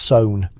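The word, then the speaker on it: Samhain: That's pronounced sewn, as in you're so in over your head with these spirits, friend.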